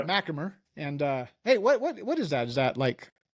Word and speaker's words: MacHamer: said his name wrong since he's been here, and he finally corrected me today because I thought it was MacHamer. He's like, that's not even close. No, MacHamer.